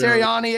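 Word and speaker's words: Sirianni: Serani at one point.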